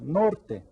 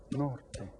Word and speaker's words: norte: Norte. How many syllables? Say it again. Norte. Which one is stressed? The first one.